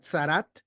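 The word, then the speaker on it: tzaraat: Bueno, en este caso le llamamos lepra o le tradujeron como lepra, pero en hebreo se le pronuncia zarat.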